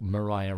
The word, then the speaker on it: Mariah: for here of like Mariah rhymes with fire okay this is such